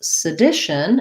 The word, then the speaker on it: sedition: We pronounce sedition, it has second syllable stress. It lacks I vowel. And so that first syllable sounds like sa and short and unstressed. The D syllable is long. And then we have the tion ending, which is just basically our sh and our schwa and our n. We almost have no vowel there.